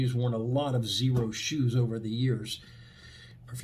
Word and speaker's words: Xero: worn a lot of zero shoes over the years if you're not familiar with them x0 spelled with an X pronounced I think zero so they gave me